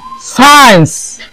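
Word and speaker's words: science: सीजस इधर है स्कीजस एंड नवरीको ये सी साइलेंट एवले आरा सीजस केचे हो रहे केसरे हो रहे इधर है साइंस इधर है साइंस एंड इधर होते साइंस मैंने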